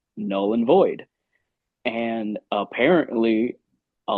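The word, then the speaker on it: Knull: Um, so our track Null and Void is spelled K N U L L like null the god of the symbiot.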